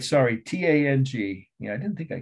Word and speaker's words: Tang: how i overlooked it tang dynasty camo from tomb sorry tang t-a-n-g dynasty i've heard it pronounced tong but it's spell t-a-n-g sorry one last must